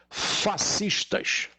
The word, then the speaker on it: fascista: pretas é só hoje fascistas escreve-se sc mais por ser aí um o encontro consonantal com características de dígrafo pronuncia-se fascista o s não é pronunciado bom então são fascistas